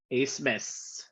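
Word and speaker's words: Abmas: But Oral Roberts, obviously 2 years removed from that Cinderella run by I mean, you should help with this pronunciation. Max who? Asmus.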